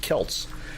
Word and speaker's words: Celts: the S sound but when you talk about the ages aged people that were the ancestors of the Irish its Celts authentic here boy this is